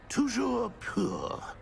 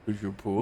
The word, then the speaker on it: Toujours pur: Toujours pur. Ha! Thank you. Toujours pur.